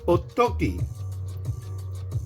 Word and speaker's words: Otoki: It's not o to o t o g i. It's o toki. O t o k i.